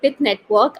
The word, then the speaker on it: Pyth Network: It's called Pyth Network. I did mispronounce it in the beginning.